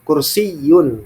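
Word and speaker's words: كرسيّ: benar had kursiyun ya dengan dengan tasdid ya dengan tasdid kursiyun seperti itu ya Ini adalah sebuah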